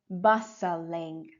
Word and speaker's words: bustling: efficiently as you can see T is not pronounced in buling so it's just buling bustling so it's not bustling bustling um it's